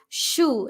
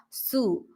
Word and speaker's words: shoe: And then shoe, it is shoe, not sue, right?